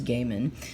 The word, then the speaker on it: Gaiman: Neil Gaiman, sorry, and John Romita Jr., there was discussions on how to pronounce his last name, and I think the consensus was Gaiman.